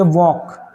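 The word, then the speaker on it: walk: टॉक फिर पढ़ेंगे यहां पे डब्ल्यू ए एल के इसको हम पढ़ेंगे वॉक। क्या पढ़ेंगे? ये नहीं कि ये लोग आप वाकल् वाल्क नहीं पढ़ेंगे। एल साइलेंट है।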